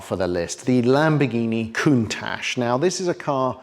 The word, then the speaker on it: Countach: Only 2,049 Countaches were actually made over 2 decades. And you'll notice I pronounce it correctly, Countach, not the way Jason says it.